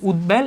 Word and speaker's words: উদ্বেল: বফলার উচ্চারণটা বজায় থাকতেছে উত উপসর্গের সঙ্গে বফলা যুক্ত হলে বফলার উচ্চারণ বহাল থাকে যেমন উদভাসু উদবেল এগুলা উত উপসর্গের সাথে